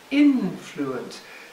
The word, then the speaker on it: influence: a word with shrew influence three syllables influence stressed on the first syllable so we get the